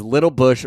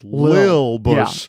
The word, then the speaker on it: Lil Bush: we're talking about is Little Bush, resident of the Now, United I States. don't like how you pronounced it. It's Lil Bush. Yeah. Lil it's Bush. not Little Bush.